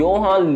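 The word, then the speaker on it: Johan: बात कर रहा हूं योहान लिबर्ट की और हमारे एनिमेटर अब वैसे योहान की स्पेलिंग में जे था बट एनिमेज हान नहीं बल्कि योहान बोल रहे थे और वैसे ये वाली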